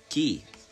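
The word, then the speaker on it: Kei: Key. Pronounced.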